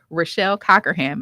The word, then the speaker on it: Rochelle Cockerham: Rochelle Cockerham. Am I putting the right pronunciation on the right syllable? Perfect.